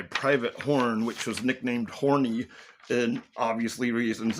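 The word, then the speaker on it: Horne: It's Horn. You of course that's what it's going to be. They it was because of his name. So, and it's spelled H O R N E.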